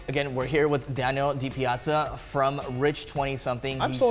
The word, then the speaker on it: DiPiazza: It's, you know who played Dodgers baseball? Mike Piazza.